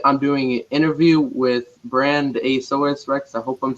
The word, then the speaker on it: BrandAsauresRex: you said it right it's just one word but a lot of people like to break it up but it's all good